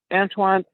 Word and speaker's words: Antoine: I want to make sure I'm pronouncing it correctly. All right. So now, Antoine, tell me a little bit about kind of where you're from, and where you grew up.